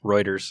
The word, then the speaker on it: Reuters: All right, so this is from Reuters, which is a Reuters.